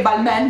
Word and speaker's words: Balmain: loro perché secondo me nessuno sa che si pronuncia ball ma io non ci sarei